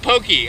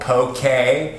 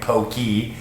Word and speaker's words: poke: make a very simple poke by the way i caught myself mispronouncing poke on the water i kept calling it pokey i've been doing that